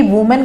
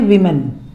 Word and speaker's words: women: ऐसे ही वुमेन का भी होता है, वुमेन, और उसका जो बन जाता है WOMEN, इसका जो प्रोनाउंसिएशन होता है उसको कहते हैं विमेन, विमेन, नॉट वुमेन, इसका प्रोनाउंसिएशन होगा विमेन, और जो उसका ये